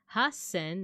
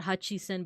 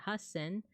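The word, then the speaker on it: 八千: Yonsen, gosen, rokusen, nanasen, hasen, not hachisen, but hasen, kyusen.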